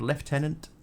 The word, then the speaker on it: lieutenant: realized Picard always used the American pronunciation of lieutenant instead of his native British word left tenant. Left tenant lieutenant always felt weird to me.